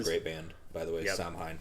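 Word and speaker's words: Samhain: Band by the way Sam Hein yes Sam Hayne however you pronounce this one I think you said it right the first time uh but they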